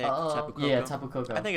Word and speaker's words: Tapu Koko: Tapu Koko?